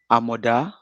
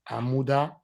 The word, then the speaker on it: Amoda: Amoda. Amuda. No, Amoda.